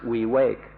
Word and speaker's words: viveka: v-i-v-e-k-a or we wake up an entire it's pronounced we wake we wake up is can be translated as